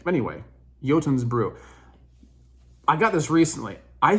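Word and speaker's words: Jotunn's Brew: I'm using mad Vikings yotun's Brew it's spelled funny it doesn't it's not pronounced the way you think anyway yotin's Brew I got this recently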